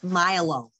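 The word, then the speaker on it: myelo: roots so for example the spinal cord is milo muscle is milo okay but one is spelled m-y-e-l-o one is spelled m-y-l-o bone is osteo nerve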